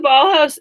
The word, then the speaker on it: Bolhuis: but as an artist, I've spelt my last name wrong so that people can pronounce it, because my last name is Dutch, and so if you know anything about the Dutch, they have whack spellings. So the legal spelling of my last name is Bolhuis. I can't expect anyone to pronounce that properly.